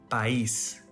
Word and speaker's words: país: For example, país. This word ends with an S letter. We learned that if a word ends with a vowel or N, S letter, the stressed syllable is next to the last. But this one doesn't follow the rules, so it has an accent mark to tell us which syllable is the louder one.